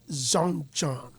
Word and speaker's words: Zonjon: So you pronounce it as Zonjon. Yeah. Right. How do you spell that one too? Zonjon. Alright. So like John and then Sean. Son and then John.